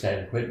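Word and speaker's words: Saint-Quentin: But anyway, what they meant, it was San Quentin is how they pronounced the name of that town.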